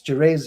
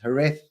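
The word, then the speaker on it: Jerez: a pork in it my Spanish students will have to teach you it's jerz it's herth it's j her as they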